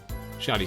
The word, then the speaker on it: Shadi: to anyone the restaurant the man named shadi Smith or pronounced differently shady Smith is a little shady so that alone he